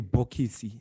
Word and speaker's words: bokisi: So in Shona, you could say bokisi, right? But most people just say boxy, right? So that's how you'd pronounce it in Shona.